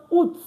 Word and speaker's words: août: Août. Août with an accent on the U. Août. So normally we don't pronounce our T at the end, but this is an exception.